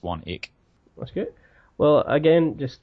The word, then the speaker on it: Swanwick: SWA and WIC k so it's spelled swanwick even though it's pronounced one eek what's good well again